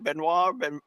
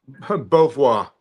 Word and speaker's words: Beauvoir: Am I pronouncing that right? Benoit? Beauvoir. Beauvoir. Oh, okay. It's French. I'm down here in Seminole and Miccosukee land, so Means beautiful view.